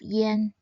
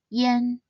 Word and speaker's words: ian: Instead, it should be pronounced as yen. It sounds like the word for Japanese currency, yen.